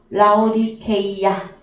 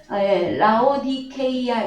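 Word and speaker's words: Λαοδίκεια: 라오디게아 한글 번역 그 원어는 무엇이냐 그러면은요, 라오디케이아 이것이 정확한 발음이 되어집니다. 라오디케이아 이 단어, 이 라오디케이아 이 교회는 소아시아의 한 장소이고, 그런데 이 라오디게아는요, 이게 단어가 두 개의 결합입니다.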